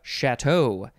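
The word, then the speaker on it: château: Next, we have Chateau, C-H-A-T-E-A-U, and there is a carrot accent on the first A.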